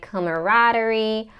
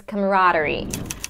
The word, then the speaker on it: camaraderie: different pronunciations and dictionaries of this word like camaraderie camaraderie camaraderie but the most common pronunciation and the only one that I've heard is camaraderie so the stresses of the raw camaraderie camaraderie